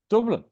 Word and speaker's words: Dublin: the softest ones but proper pronunciation of that would be probably Dublin so Dublin there you go emphasis on the Dublin and Dublin there you go yeah not